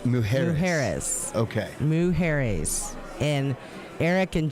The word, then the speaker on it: Mujeres: Well, pronunciation error, Miss Beth Travers said it's Mujeres. Mujeres.